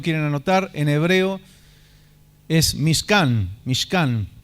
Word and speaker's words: Mishkan: Tabernáculo, si ustedes lo quieren anotar, en hebreo es Mishkan. Mishkan. Se puede escribir como se pronuncia, Mishkan con C, o M-I-S-H-K-A-N, Mishkan, que quiere decir morada.